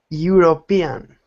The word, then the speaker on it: European: That J is not really a J. It's a symbol. That is the symbol for Y. Y. So Victor, it's not Europeo or European. It's Euro. European. Perfect.